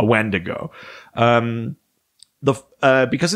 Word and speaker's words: wendigo: as well so uh alternate pronunciations include uh uh windigo uh witago uh windikook uh whitaker and then also these ones that are don't sound similar at all like uh action chanu and kewak these are all various other alternate pronunciations alternate words for what is essentially a wendigo um the uh because